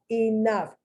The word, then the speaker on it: enough: v the uppercase v enough f you see the gh the gh is spelled it's pronounced like an f just like tough just like cough they end in gh